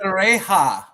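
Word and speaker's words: Pereira: Perea.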